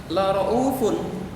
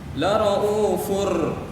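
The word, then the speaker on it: رؤوف رحيم: Nah, sebenarnya dia bacanya la ra'ufun. Nah, la ra'ufun. Tetapi karena bertemu dengan ro, anak-anakku semuanya, dia bukan dibaca la ra'ufun. La ra'ufur. Nah, campur sama huruf ro, anak-anakku semuanya. Dan itu tidak boleh panjang.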